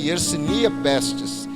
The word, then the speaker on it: Yersinia pestis: bactéria e yersínia testes o nome é difícil porque é o nome científico mas ele se pronunciasse yersinia pestis ela era disseminada pelo